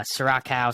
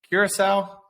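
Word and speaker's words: Curaçao: actually no it is a liquor um uh sorakao Sirocco I don't know how to pronounce it but how do you spell it are you saying C Curacao Curacao yes Curacao Jesus Christ he's not from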